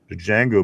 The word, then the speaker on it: Django: Let's go here to Django. Move chains. Tortilla. The D is silent. Django.